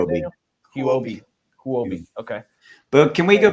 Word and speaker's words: Huobi: Huobi.